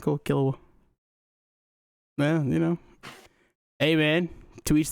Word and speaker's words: Killua: Killua to me was Kahlua for a long time.